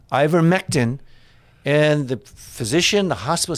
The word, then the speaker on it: Ivermectin: called upon to get some, how do you pronounce it? Ivermectin. Ivermectin.